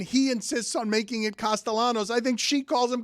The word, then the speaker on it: Castellanos: Yeah, because the double L, you have to roll it if you're Hispanic.